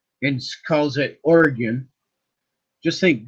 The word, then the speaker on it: Oregon: because until he decides to stop calling it oryon and calls it Oregon just think G and then or G like an Oregon but you go orgon that's how it is pronounced by us here